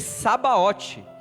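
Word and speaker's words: Sabaoth: Pode escrever Sabaote, S-A-B-O-T, Sabaote, do jeito que você pronuncia.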